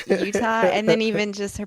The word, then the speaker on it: Utah: I love it when she said Uta. Uta instead of Utah.